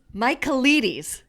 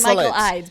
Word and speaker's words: Michaelides: Michaelides. That's what it is. Michaelides. I was saying Michael Ides, but it's Michaelides.